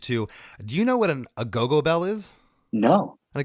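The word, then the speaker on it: agogo: A go-go bell, it's spelled A-G-O-G-O, a go-go bells.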